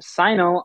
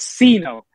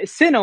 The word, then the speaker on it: Syno: you this right now times I've heard people mispronounce my name the first time I've heard it it was C note so Sino wasn't that bad it was cenal that was a horrible one but you gotta let